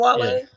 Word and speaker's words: Wale: because that he didn't still even know that mispronounced his camera was name. rolling. He was calling him Wally and shit Wally, instead of yeah, Wale.